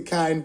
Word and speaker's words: Kynd: the host of The Kind Podcast, where kind is spelled K Y N D, and yes, it's spelled with a Y because kindness starts with you.